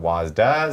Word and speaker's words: WASD: actually pronounce this but I've always called it wasy other people call it wasda some people call it WD I almost want to